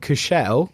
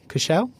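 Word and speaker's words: Cushelle: Then I was in Tesco two days ago and Cushell Cashelle, that's how you say it.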